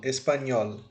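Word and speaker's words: español: aqui ó podemos perguntar qual dessas três sílabas eu coloco mais força ao falar é o s é o pa ou é o nhol isso mesmo nhol espanhol então nhol será a nossa sílaba tônica esse ES e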